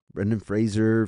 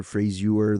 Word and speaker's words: Brendan Fraser: uh and that's going to be Brendan Fraser Brendan Fraser frasure the way youever whatever way you want to pronounce it brenen Frasier um has to be